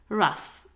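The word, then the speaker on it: rough: films soul food show raf esta palabra se pronuncia la ocu como a rap y la gh suena como una f rush quiere decir duro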